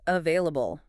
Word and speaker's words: available: And our last pronunciation word is available. A v a i l a b l e. The stress is right in the middle.